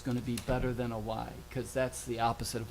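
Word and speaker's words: wye: and so it's basically, you can visualize a Y, even though it's spelled W-Y-E.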